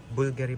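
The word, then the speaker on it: Bvlgari: Bulgary pa ang pag-pronounce diyan ha. Kasi yung yung V dito I think sa I don't know Roman ba it used to pronounce as you. So Bulgar yan.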